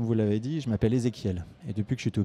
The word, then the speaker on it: Ezéchiel: d'orthographe aussi parce que ça se prononce ezéchiel mais ça s'écrit ch donc déjà première raison j'ai